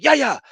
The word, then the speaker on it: Yahya: And the coach is going, Yaya, Yaya, Yaya, Yaya, Yaya, get back, Yaya, Yaya, Yaya.